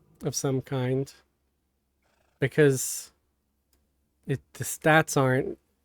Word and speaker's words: SoW: And a lot of them were asked how they pronounce SOW. And every single one of them said so. So I want to say to anybody who wants to pronounce it sow, you're wrong. You are incorrect.